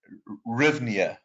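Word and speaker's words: hryvnia: anna caught me uh the uh rhythmia i'm assuming the h is silent the rhythmia the ukrainian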